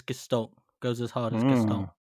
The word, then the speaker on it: Gestalt: Gestalt. No. No. Damn. Well, typically it was always said with like a hard G.